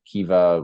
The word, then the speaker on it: Kiva: Kiva? Yeah. That's right. Would you like to just say a word or two about why you selected Kiva, why that is an important organization to you?